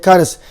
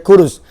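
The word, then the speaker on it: كرز: surat 39 di sini disebut sebagai Kars ejaannya dalam bahasa Arab Kaf ro Zai Kars ada yang memanggil sebagai kurus lalu waktu ni beliau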